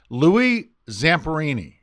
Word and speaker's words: Louis Zamperini: and tell the listeners the best way to pronounce his name now you're putting me on the spot see it's Louie Zamperini you know what you did that flawless did